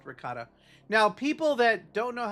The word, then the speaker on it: ricotta: It's ricotta. It's because calling something in your culture by the proper pronunciation, I guess, makes you feel superior to